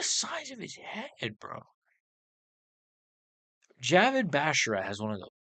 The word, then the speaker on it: Javid: Ricky Simone versus Jared Basharat. Javid Basharat.